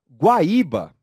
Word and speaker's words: Guaíba: mas veja que interessante Guaíba Guaíba tem três sílabas não é mesmo vamos comigo vamos lá pode deixar aquela mesma imagem isso pode deixar essa mesma imagem Vamos a primeira sílaba de Guaíba primeira sílaba e terceira sílaba bá isso aqui é um hiato e é o hiato formado pela letra u pela letra i desculpa hiato formado pela letra i isolamento e com força na letra i só que algo